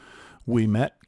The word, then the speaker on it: Ouimet: And that place is We Met Canyon Provincial Park. As you can see in the title, it's spelled with an O UI, but it's pronounced we like the French Wii.